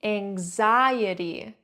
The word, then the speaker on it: anxiety: The strongest part of the word is on that second syllable. Anxiety. The I E sounds like E in C. And the last part T Y is like T.